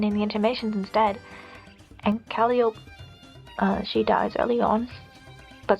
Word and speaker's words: Calliope: In Act 6, the Cherubs are introduced, the two main ones being Calliope, which I know is pronounced Calliope, but bear with me, and Caliborn.